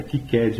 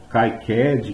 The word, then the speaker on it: KiCad: Para quem não sabe, a pronúncia é KCAD mesmo, tá? Então não é KCAD, KAD, nada disso.